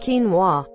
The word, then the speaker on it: quinoa: PT PP n X clamp ation probably exclamation exclamation X lamination quinoa it is actually pronounced quinoa I read it several times before I heard